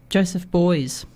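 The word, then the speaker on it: Beuys: An artist by the name of Joseph Boys. I've pronounced that correctly?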